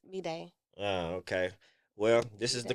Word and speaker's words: B'dai: I used to say Anna B die. I've been saying it wrong this whole damn I time. think a lot of people do. It's B'day.